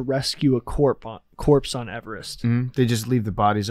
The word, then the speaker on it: Everest: you know that yeah that's how the guy's name was pronounced not everest it's everest that's the correct way